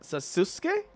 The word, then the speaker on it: Sasuke: You don't pronounce the U, Sasuke.